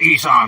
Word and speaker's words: Esau: It's pronounced Esau, you whole ass cracker.